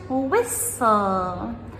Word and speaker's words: whistle: And whistle, I'm whistling a tune. So whistle, W-H-I-S-T-L-E.